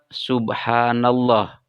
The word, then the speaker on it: Subhanallah: fathah misalnya pada kalimat Subhanallah diperhatikan Subhanallah lafaz Allah berada setelah baris fathah yang ada pada huruf nun sehingga dibacanya menjadi tebal Subhanallah bukan Subhanallah selanjutnya laf Allah dibaca